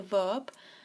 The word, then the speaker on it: ver: Then we have ver, sí, that is to see, that's the verb. So this is pronounced with a B, ver.